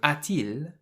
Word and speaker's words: a-t-il: in the middle, so the t is there to make the a and the il link together more nicely. So a-t-il means has he.